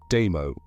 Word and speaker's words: Damo: Put Dammo became simply Damo, two syllables, almost a breath.